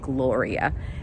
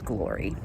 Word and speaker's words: Glory: When I first came on for amateur figure, the MC got my name wrong. He said Gloria. My name is Glory.